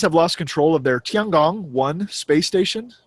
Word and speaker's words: Tiangong: Speaking of other things made in China, the Chinese have lost control of their Tiangong-1 space station. Did you like that pronunciation I had there? That was authentic.